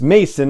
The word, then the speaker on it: Mason: Jordan of Cinelinx, and I've pronounced his name, his last name, as Maison or Maison in the past because it's M-A-I-S-O-N, and in my head the S is more like a Z. But I did ask him on Twitter, and he was very kind about it and said it's Mason, it's pronounced like Mason jar, so Jordan Mason is actually how his name is pronounced.